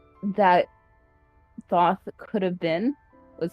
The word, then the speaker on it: Thoth: So the actual pronunciation that Thoth could have been was thought.